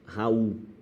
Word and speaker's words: Raul: Hiato, cada uma na sua sílaba é vogal e vogal. Raul, tá vendo? Ninguém fala, qual é o teu nome? Meu nome é Raul. Raul, pô, o é forte. Raul.